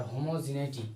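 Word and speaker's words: homogeneity: সমকেন্দ্রিক এটা কিন্তু adjective Homo centric সমকেন্দ্রী আর হোমোজিনাইটি এটা কিন্তু বানানটা এটা কিন্তু প্রোনাউন্সিয়েশনে অনেক ইম্পর্টেন্ট হোমোজিনাইটি জি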